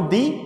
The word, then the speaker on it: the: এখানে একটা মজার বিষয় হচ্ছে, যদিও THE, তোমরা একটা মজার ইন্টারেস্টিং টপিক জেনে নাও, THE উচ্চারণ কিন্তু কখনো দি কখনো দা হয়।